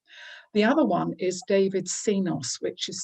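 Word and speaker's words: Csinos: that's really important the other one is david cenos which is spelt c s i n o s who's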